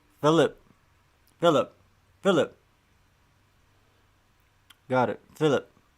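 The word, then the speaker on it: Felip: Sigma's telling me how to pronounce his name. Philip. Philip.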